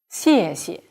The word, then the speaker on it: 谢谢: 谢谢, xie is 4th tone.